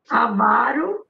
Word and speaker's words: avaro: Não, é vá, avaro. Avaro. Sílaba forte. Avaro. A sílaba forte é avá.